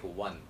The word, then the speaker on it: one: It had no business being spoken like one. Either you should have said it as on or on, something like that, but one, saying it one has absolutely no sense, but that is how it is pronounced.